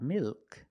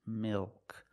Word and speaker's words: milk: but before a consonant this is also a dark L mil milk it's not milk it's milk the tongue gets fatter